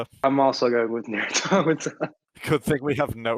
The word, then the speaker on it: Automata: Is that how you pronounce that? It's Automata.